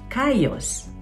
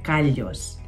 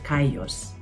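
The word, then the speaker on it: callos: Ang double L sa Spanish ay pino-pronounce tulad ng letter Y.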